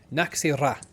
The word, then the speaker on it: Nachzehrer: Oh, I believe I got the name wrong there. Naki ra.